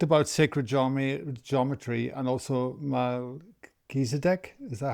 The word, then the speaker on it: Melchizedek: So first of all, um, you talked about sacred geometry and also Melchizedek. Is that how you pronounce it? Melchizedek Melchizedek priesthood, yeah.